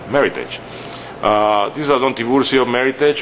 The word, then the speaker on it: Meritage: uh and it's pronounced Meritage it rhymes with Heritage it's not Meritage like some people say so please say Meritage uh this is Aio